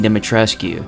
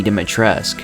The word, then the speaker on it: Dimitrescu: be pronounced as lady dimitrescu but in actuality the u is silent and it's actually pronounced as lady dimitresk this is evidence during